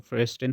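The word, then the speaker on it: Verstehen: फिर आपका है नेक्स्ट क्वेश्चन, किसने समाज के अध्ययन के लिए, जो आपका फेयरस्टेन है, इसकी प्रोनाउंसिएशन जो है वो फेयरस्टेन होती है, जर्मन वर्ड है ये, समझदार समझ पद्धति पर जोर दिया?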